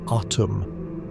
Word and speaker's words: Atum: Atum is pronounced autumn with the emphasis on the first syllable and a hard T. The ah is wide open like the sound you make when the doctor ask you to say ah.